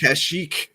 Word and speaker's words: Kashyyyk: Kashyyyk.